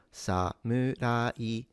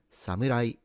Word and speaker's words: samurai: So sa mu ra i samurai samurai Also note that it's a mu rather than mu.